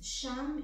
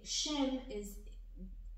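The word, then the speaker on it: שם: Sham in Hebrew means name. And if you change the word a bit and you say, if you say Shem translates to name. If you pronounce it as Sham, it means there.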